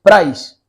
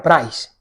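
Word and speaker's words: πραΰς: La palabra griega usada aquí es prais. Bueno, así es como se pronuncia, se escribe, es que se me ha olvidado poner la diapositiva de la palabra, pero se escribe praus, ¿no? Y se pronuncia prais.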